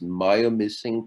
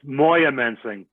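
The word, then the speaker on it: Moyamensing: days in and i i don't know if i'm pronouncing this maya missing prison is that around here that's in northeastern pa i believe that's moya mensing moyamenting thank you that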